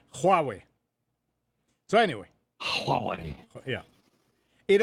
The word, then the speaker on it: Huawei: student, and I said, Jack, how do you pronounce this? Oh, he said, that's Huawei. So it's Huawei.